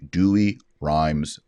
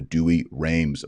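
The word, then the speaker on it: Douay-Rheims: i always recommend is the dewey rhymes bible or the dewey rheims bible pronounced different ways in different parts of the world this is an english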